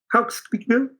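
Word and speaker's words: Hawksbill: Por su parte, el neoyorquino Robert Silverberg, en su novela Estación Hawksville, bueno, no lo pronuncio bien, es Hawksville, de 1968, no va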